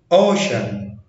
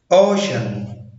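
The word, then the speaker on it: ocean: طب لو جه بعديه حرفين متحركين وراهم حرف ساكن ينطق ش، زي اوشن، السي جه بعديها اي اي حرفين متحركين وبعد كده حرف ساكن فاتنطقت ش، اوشن، اوفيشال، اوفيشال، انشنت، انشنت، الكتريشن، الكتريشن.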